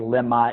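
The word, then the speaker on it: לְמָה: our life I became Lama and Limbaugh which is spelled the same Lama mem hey Lama is why Lim ma is for what why Lama is a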